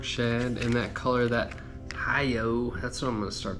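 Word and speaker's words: HIUO: A beautiful 3-inch spark shad in that color, that Hi-Yo. That's what I'm gonna start calling it from now on. It's spelled H-I-U-O, so kind of a hard one to pronounce, but that's what it looks like.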